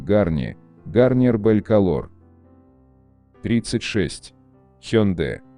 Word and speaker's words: Hyundai: произношение марки на английском Hyundai, like Sunday.